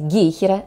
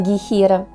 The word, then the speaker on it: гейхера: думаю все запомнят что правильно произносить гейхера а не гейхера и растение это названо в честь немецкого врача и Ботаника и у агана Генриха фон гейхера поэтому и ударение в слове на первый слог А вот слово херел